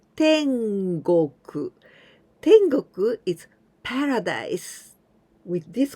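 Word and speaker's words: 天国: be tropical countries adding this kanji then we pronounce tengoku tengoku is paradise with this kanji go we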